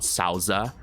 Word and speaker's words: Souther: Well, it's kind of hard to say his name in English because it's called Sauza in Japanese. So it can be Souther, Thouser, or Souther. I'll call him Souther because it kind of sounds more appropriate.